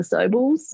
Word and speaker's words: Sobel: bad case of the Sobels. I don't know about you. When you put it that way. I always thought of it as like a rhyme with noble.